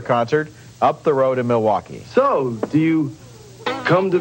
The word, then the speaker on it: Milwaukee: Indian name yes Pete it is actually it's pronounced Milwaukee which is del Gong Qin for the good